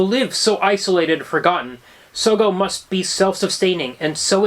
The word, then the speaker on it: Sogo: well, you know why I pronounced it Sogo? Why is that? Because it's a combination of Sodom and Gomorrah.